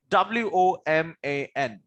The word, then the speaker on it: woman: W-O-M-A-N is pronounced as woman.